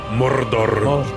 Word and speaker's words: Mordor: 1 for the Dark Lord on his dark throne in the land of Mordor, where the shadows lie. Well, that's how you pronounce it. Okay. Mordor.